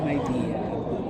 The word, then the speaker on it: Midea: Ang tamang pronunciation pala may idea myide idea ba?